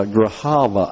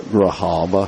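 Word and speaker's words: Grijalva: elected official here uh Graava I think is the way you pronounce the name there. This is Adalita Grahaba who is the daughter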